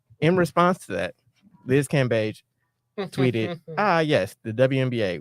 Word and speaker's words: Cambage: this cabbage bay cape we've announced her name wrong it's cambage i'm american um but i'm just letting out her name is pronounced shout out to courtney